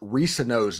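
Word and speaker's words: Reescano: Yeah, and by the way, I talked to Kedrick Risano's dad. The C is silent, and it's kind of like science.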